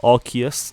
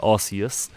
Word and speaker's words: Arceus: Some people pronounce it Arceus and some people pronounce it Arceus. I've always said Arceus, so that's what I'll go with.